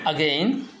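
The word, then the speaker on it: again: আপনারা যেটিকে বলতেন এগেইন, এটা উচ্চারণ হচ্ছে আগেইন।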